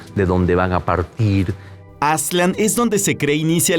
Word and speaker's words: Aztlán: Lo mismo pasa con Aslan, que será la pronunciación más cercana con Aslan.